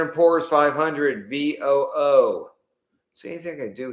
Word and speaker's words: VOO: So let's go to rhymes with VOO. We'll call it Woo. Now we'll call it VOO.